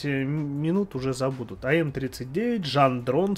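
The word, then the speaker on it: Gendron: уже забуду то м39 жан дрон с ума я специально учил это название потому что она пишется пару латинице как ген дрон вот правильно по-французски и все-таки говорить жан дрон короче был такой инженер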